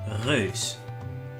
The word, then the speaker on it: Reus: It's called Reus, or it's a Dutch. It's made by a Dutch developer called Abbey Games, and Reus means giant, and it's supposed to be pronounced Reus.